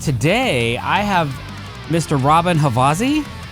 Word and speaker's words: Robbin Havasi: I mean, if I say it in Swedish, Robin Havasi.